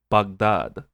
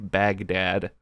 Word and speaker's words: Baghdad: Oh right, she says Baghdad. She pronounces it Baghdad, which it's a good attention to detail because somebody from there would pronounce it that way and not like an American like Baghdad.